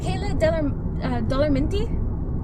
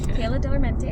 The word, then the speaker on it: Kayla Darmente: sing they're like uh kayla dollar minty yeah no kayla darmente that's that's how you say my name it's not that hard